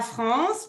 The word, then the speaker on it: France: La France, parfait. La France. Répétez après moi pour la prononciation.